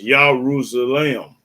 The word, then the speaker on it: Jerusalem: of Jerusalem because what no J's in the alphabet of Hebrew one no such thing as Jerusalem it was yahrus the lamb you're using lamb that was how you pronounce it that's the right pronunciation of Jerusalem and it's still open